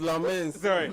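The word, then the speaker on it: Lammens: Lmens Lmens. He plays. You mean Lmens? Lmen. That's the Belgian pronunciation.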